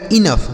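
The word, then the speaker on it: enough: इ एन ओ यू जी एच तो इ एन से हो गया दोस्तों इन। और ओ यू जी एच का हमने उच्चारण क्या बताया? फ इसे पढ़ा जाएगा इनफ।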